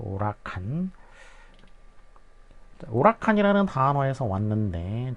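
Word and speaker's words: huracán: 스페인어에서는 H는 이제 발음이 안 되기 때문에 그래서 우가 되겠어. 우라칸.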